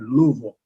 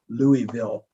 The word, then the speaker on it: Louisville: Notice I said Louisville. That's the way we Southerners pronounce Louisville.